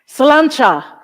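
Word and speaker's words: sláinte: have to check I have to check my salanta that's how you say it salanta and the milon question is what does that mean slancha does anyone know because I forgot to look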